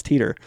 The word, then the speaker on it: Titor: some of the stuff yeah yeah it's teeter cory was on that